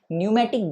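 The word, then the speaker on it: pneumatic: है ऐसे बोन को न्यूमेटिक बोन बोला जाता है क्या बोला जाता है कॉल्ड पी साइलेंट होगा न्यू मैटिक bonus called न्यूमेटिक bonus इस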